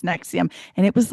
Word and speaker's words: NXIVM: in and it's NXIVM, but it's pronounced Nexium.